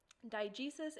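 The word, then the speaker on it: diegesis: two different literary terms diges and mimesis digesis and mimesis okay by the way that is how they're pronounced i actually bothered to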